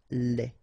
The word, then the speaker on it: lait: Lait. Un lait. Okay, so the only difference is final thing here, they, you don't pronounce it, they, you don't pronounce it, so phonetically you only have this lait.